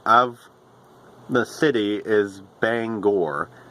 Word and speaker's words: Bangor: to Maine, when they come to Bangor, they pronounce it Banger or Banger, and the actual pronunciation of the city is Bangor, Bangor, but we just wanted to add that little